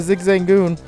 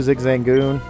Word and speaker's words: Zigzagoon: it's a level two zigzag goon zig zagoon zig zang goon i say it like it's like a pasta zigzagoon and then you